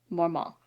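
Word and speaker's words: Mortmain: it properly pronounced Judy uh more Ma so more mall is how it's pronounced okay we have been calling him this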